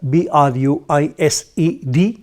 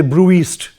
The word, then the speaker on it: bruised: you know bruised broom b-r-u-i-s-e-d bruised pronounced bruised you don't have to say brew east no it's not brewest it's bruised bruised means